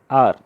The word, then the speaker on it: hour: एन, आवर, here is एच, एन, आवर, here H is silent and we starts the pronunciation from o, our, and not saying hour, है ना. जैसे HOUR, हावर नहीं बोलना है, आवर.